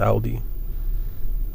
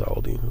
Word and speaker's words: Aldi: Love Aldi. Some people pronounce it Aldi. I believe it's Aldi. I've always pronounced it Aldi.